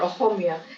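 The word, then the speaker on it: অসমীয়া: the voiceless B frive it's a particular sound that we asmis people are able to pronounce um it's a sound H or when you say a home or aoma it's a sound that very few people can pronounce so this tiny poem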